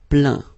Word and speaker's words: plaint: Okay, and as usual, final T here is not pronounced, so you get craint, contraint, plaint.